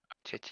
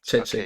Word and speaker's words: Chechik: Is it pronounced right that way, Lucas? Tristan? You just said it the same way twice, so Chechik? yes, it was correct. Chechik, Okay.